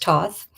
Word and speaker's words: Thoth: Toth pronounced Toth also known as Tahuti is the ancient Egyptian ebis headed god of writing, divine magic and the moon.